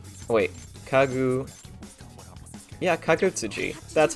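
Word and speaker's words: Kagutsuchi: Izanagi when he slew the newborn fire god, Kagutsuji. Wait, Yeah, Kagutsuji.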